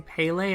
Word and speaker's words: Pele: As an aside, I also want to apologize for mispronouncing Pele as Pel in my previous videos.